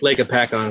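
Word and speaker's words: Hopatcong: Lake Hoppet. I don't know how to say it. It's Lake Apacon. Okay, Apacon, but it's actually Lake Apacon is how they pronounce it.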